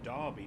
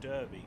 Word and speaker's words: Derby: bro no no it's Loughborough and Leicester and Derby not Derby but I didn't get that far with the